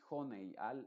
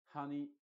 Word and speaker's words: honey: crear dos vocales diferentes si al final de una palabra aparece la combinación e entonces la y es muda y la e se pronuncia con su sonido original no se va a